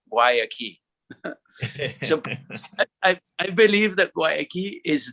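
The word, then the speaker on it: Guayaki: how do you pronounce waiakee and say well imagine a door and a key why a key i believe that goyaki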